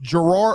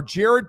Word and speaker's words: Jared: So now tight ends coach Gerard or Jared Parker. I always want to say Gerard because it starts with a G, right? The way it's spelled I kept thinking it was Gerard and I even when